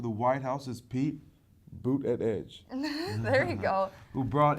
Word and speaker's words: Buttigieg: Buttigieg. It's boot, edge, edge. So boot, like a shoe, and edge, edge.